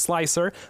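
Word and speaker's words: Slic3r: is a slick 3r i know it's stylized so that it's uh pronounced slicer but there is a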